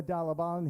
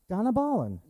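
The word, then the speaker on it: Dhanabalan: Uma Dalabalan here at, I said Donabalan? Donabalan.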